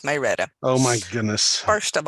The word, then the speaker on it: Marietta: you're mispronouncing the city it's not Mariette it's my redo oh my goodness first